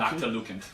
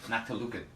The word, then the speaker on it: Noctilucant: Noctilucant. Noctilucant. Yeah. Okay. It's open for interpretation, so it's a made-up word, so really whatever you want. Knock till I can't.